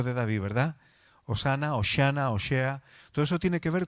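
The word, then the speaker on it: הושע: el nombre en castellano se parece muchísimo al nombre hebreo en hebreo es oshea hay quien lo pronuncia oshia Qué significa oshea de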